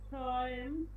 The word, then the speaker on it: träumt: er এয়ার, এয়ার ট্রয়েম, অয় উচ্চারণ হবে, এ উ পাশাপাশি বসলে অয় উচ্চারণ হয়। er träumt davon träumt ট্রয়েম, ট্রয়েম,